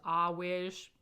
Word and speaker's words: Earwig: anna grandma or mrs ah wish it looks like earwig it bothers me so much that that's pronounced always just not even funny